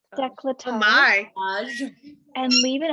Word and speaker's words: décolletage: Décolletage. Decolletage. Décolletage.